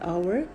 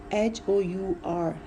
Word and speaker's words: hour: Like if I say an hour, so the word hour, H-O-U-R, here H is silent, so it is starting with the a sound, an hour.